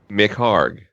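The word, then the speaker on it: McHargue: McHarg. Oh, the silent UE trick.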